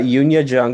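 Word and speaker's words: Youn Yuh-jung: I've got Yunya Jung at number 1, which is how you're actually supposed to say her name.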